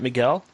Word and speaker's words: Miguel: Am I pronouncing your name right, Miguel?